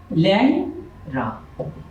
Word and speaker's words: লেংরা: আমরা যদি লিখি লেংরা, এর উচ্চারণ হবে ল্যাংরা।